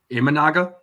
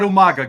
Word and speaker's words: Imanaga: Yamamoto is it aagama or origami however you pronounce his name imanaga yeah thank you orami it's not it's not Umaga guys it's s budy oh my God origami